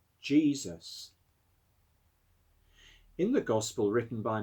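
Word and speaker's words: Jesús: means the same as jesus in spain and south america the name is pronounced jesus there's a spanish footballer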